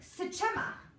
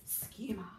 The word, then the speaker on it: schema: It looks like sechema. Ooh, that sounds like something that I ate the other day. But it's schema.